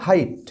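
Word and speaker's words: high: মনে রাখতে পারো নেক্সট কি রয়েছে বলা হচ্ছে হাইট এইচ ই আই জি এইচ টি ই যার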